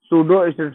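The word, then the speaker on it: pseudo: फ बला सड हां सूडो इसमें पी साइलेंट है ठीक है सूडो स्ट्रेटिफाइड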